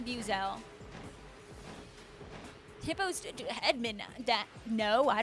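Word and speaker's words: Buizel: I literally cringe whenever I hear someone say boel it does not sound correct I say Buel hippos edman that no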